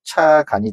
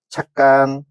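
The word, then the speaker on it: 찻간: 화면에 보시다시피 제가 먼저 써놨는데 이 6개의 단어를 먼저 한자 본음 그대로 읽으면 뭐가 되냐면 얘는 차간이 되고 그 다음에 고간, 그 다음에 퇴간, 수자, 회수, 세방이라고 읽을 수가 있습니다. 근데 이 6개의 단어들은 한자어에 사이시옷이 붙은, 그래서 착간, 곡간, 횟간, 숫자, 횟수, 새빵이라고 읽으셔야지 표준어가 되는 것입니다.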